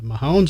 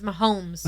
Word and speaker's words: Mahomes: he's an a uh Mahones or anything look at me talking like I know Sports say his name again Mahones it's Mahomes hones with an Mounds